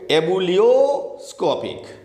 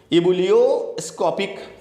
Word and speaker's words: ebullioscopic: आप इसको कैसे पढ़ोगे, एबुलियोस्कोपिक, EBULLIO एबुलियोस्कोपिक कांस्टेंट।